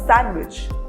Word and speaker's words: sandwich: There are some common words in which letter D is not pronounced. For example, handsome or sandwich.